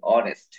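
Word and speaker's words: honest: তারপরশি ইজ অনেস্ট অনেস্ট শব্দটা হল উচ্চারণ করতে আমরা অনেস্ট উচ্চারণ করি না আমরা উচ্চারণ করি অনেস্ট এ উচ্চারণ আমরা জানি হ মত হয় কিন্তু এখানে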